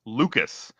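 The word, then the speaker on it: Lukes: And that's what Luke is providing against at least against right-handed pitching.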